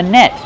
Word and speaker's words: net: This is a fishing net. How do we pronounce net? Use the short S sound like red and bed. Net. Then use a stop T. You can say net, but normally people say net.